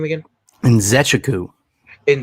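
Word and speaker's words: Nzechukwu: that coming from uh bill how do you pronounce his last name again and zechaku and zechaku got it but yeah um i you know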